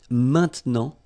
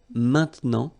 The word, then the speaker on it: maintenant: All right, and then maintenant, okay, normally we tend not to pronounce this okay, so we get this maintenant, maintenant, okay, now.